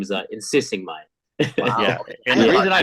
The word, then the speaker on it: Insixiengmay: calls me and my last name is insisting M yeah and the reason I butchered it is because I know people with